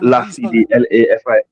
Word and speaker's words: Lafidi: How do you spell it? Lafidi LAFIDI or DY, Oh, but it's okay.